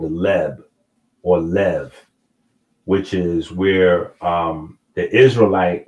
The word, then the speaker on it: Lev: And in the Hebrew, the B and the V are the same letter. So bait and vate, or bet and vet, is the same letter. So in the Hebrew, they use the V pronunciation, which is Lev, but this represents the heart.